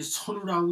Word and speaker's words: 선우: 근데 이 선우라고 읽을 때 이렇게 쓸 때는 선우라고 읽어야 선자로 읽어야 됩니다.